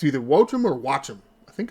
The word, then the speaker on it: Joaquin: I've been saying Joachim. Well, apparently, it's Wochim. Or something close to that. Much like how you start J-O-A and Joaquin. Should be Watcham? It's either Wochim or Watcham.